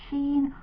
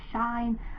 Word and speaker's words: Shein: I bought some items from a company called Shein or Shein or Shine. I don't know how you're meant to pronounce it, but I say Shein.